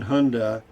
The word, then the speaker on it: Hyundai: last one i think the why is silent in hyundai but i do but